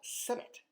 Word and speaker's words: Senet: This is an ancient Egyptian game called Senet, S-E-N-E-T, if you were going to spell it in modern, letters, if you will.